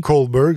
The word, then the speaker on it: Kohlberg: Kohlberg, ça s'écrit K-H-O-L-B-E-R-G.